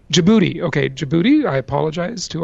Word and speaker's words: Djibouti: Reunion Islands Mali Bolivia Yemen how do you pronounce the next one did you book Djibouti Djibouti okay Djibouti I apologize to our Djibouti listeners